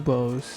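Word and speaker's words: buboes: BU B Boos.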